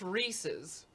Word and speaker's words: Reese's: says is a word Reese is a name Reese's Pieces it's meant to rhyme as the actual words pieces is pronounced [